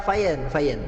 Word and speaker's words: Fian: KTP-nya ini kan namanya Fian gitu kan. Cuma dibaca pronuncia luar gitu Bang. Jadi FIAN.